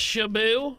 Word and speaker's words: Shitbutt: It's pronounced Shabu.